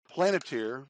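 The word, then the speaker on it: Palantir: Planeteer, that's spelled P-A-L-A-N-T-I-R.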